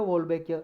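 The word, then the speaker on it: Wolbachia: इसमें क्या है जी, इन्होंने मॉस्किटो को ये वोल्बैकिया बोल सकते हैं, वोल्बैकिया इसकी प्रोनाउंसिएशन है, वोल्बैकिया नाम का बैक्टीरिया जी, बैक्टीरिया है ये, इसको जी मॉस्किटो के अंदर डाल दिया।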